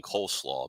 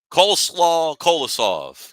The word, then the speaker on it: Kolosov: I'm going to end up saying Coleslaw because that's what I keep wanting to say when I say his name. Alexei Kolosov came in the game, played very well.